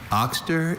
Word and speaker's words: oxter: Oxter is the only pronunciation of this noun.